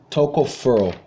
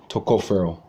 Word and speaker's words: tocopherol: called alpha forgive me forgive me if I mispronounce this but it's called mostly it's called alpha tocopherol tocopherol okay but walnuts have gamma tocopherol tocopherol some like that I'm gonna learn how